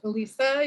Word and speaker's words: Allyssa: For the question, again, my name is pronounced Alyssa.